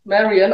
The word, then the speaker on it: Marion: already heard my name it's Marion I think it's so nice to pronounce it in English it sounds it's like Robin Hood all the people and